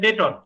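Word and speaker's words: debtor: অনেকে ডেটর উচ্চারণ করেন, এইখানে বিটা সাইলেন্ট থাকবে, করবেন জাজমেন্ট ডেটর।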